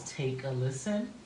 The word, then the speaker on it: Takalisten: So my stage name is Take a Listen. Take a listen. Yes, but it's spelled TAKALISTEN.